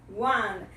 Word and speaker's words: one: A palavra em inglês, que começa com a vogal O, tem o som de one. É o som da letra W, também aqui é uma semivogal, ok?